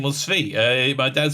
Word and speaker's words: Tzvi: Tzvi. Imagine it's spelled S-V-E-E. I spell it T-Z-V-I, but S-V-E, Tzvi.